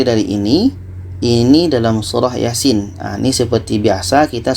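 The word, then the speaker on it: يس: yang ini dibaca Sin Kenapa dibaca Yasin bukan Yasa karena ini adalah fawatir Hurufnya harus dibaca satu-satu mengikut ejaan huruf hijaiyah Iya dengan Sin dan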